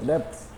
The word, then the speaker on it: debts: डी ई टी एस डी बी टी एस डेप्स डेप्स B silent होता है बैड डे्स बोलते हैं